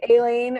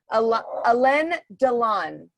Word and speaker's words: Alain Delon: Aileen, or I'm probably saying it wrong.